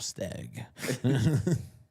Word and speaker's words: Stagg: Staggy ended up with. Right. Many, many bottles of stag. I do. I mean, you gotta say it right though. Remember, it's stag.